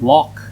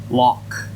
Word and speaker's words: loch: Respecting local customs means pronouncing loch, not lock, and avoiding risky topics like football or the English.